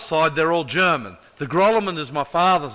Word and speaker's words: Grolimund: I'll tell you how you say it in the original. It's Grolimund. Grolimund. It's not French. It is from one of the smallest countries in the world. Switzerland. Switzerland. It's Swiss.